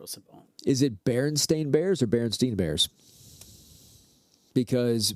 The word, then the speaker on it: Berenstain: Well, I feel like some of the books that we have says Steen. S-T-E-I-N, right? Nope. It says Berenstain. Stain.